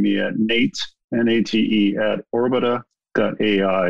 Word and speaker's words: Orbita: You can get a hold of me personally by just emailing me at Nate, N-A-T-E, at orbita.ai. And Orbita is spelled O-R-B-I-T-A, just like orbital without the L.